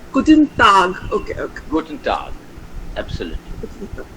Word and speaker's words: Guten Tag: Okay, so it's Guten Tag.